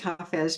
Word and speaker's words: Hafiz: I know it's pronounced Hafiz because I got to know the main translator of Hafiz, Daniel Ladinsky, over time.